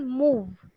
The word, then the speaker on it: move: business right secondly um try to differentiate between b and v sounds right so for example move yeah it should not be b at the end it's v at the end right so move moves